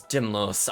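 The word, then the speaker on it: Dymlos: pronounce this person's name is it do you think it's dimlow's chat or daimlos for now i'm going to say dimlos my name is dimlos i'm the swordian you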